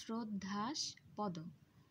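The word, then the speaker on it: শ্রদ্ধাস্পদ: শ্রদ্ধাস পদ শব্দটির ক্ষেত্রেও আমরা উচ্চারণ করার সময় বানানে তালব্যস থাকলেও উচ্চারণ করছি শ্রদ্ধা, উচ্চারণটা হচ্ছে শ্রদ্ধাস পদ।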